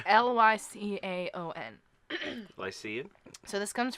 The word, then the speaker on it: Lycaon: know how to pronounce I get that it's ly see Aon I see so this